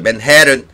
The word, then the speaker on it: Manhattan: Manhattan, Manhattan 그러지 마시고요. 지금 맥이 발음 들어보세요. Manhattan, Manhattan, Manhattan.